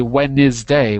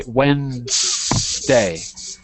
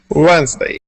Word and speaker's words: Wednesday: you Gustavo don't worry a very common mistake in English is to not know which syllable that we skip because we often skip or eat or swallow one of the syllables in Wednesday it's the NES we don't say w is day we say wday Wednesday that's it Wednesday